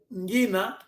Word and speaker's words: Ngina: Assim, os termos, por exemplo, Ngina não se escreve com G-U-I-N-I-A, mas sim, ela não tem força das duas vogais, simplesmente colocamos o que a vogal I, Ngi, como se fosse também um Ngue, eu só coloquei aqui nos comentários.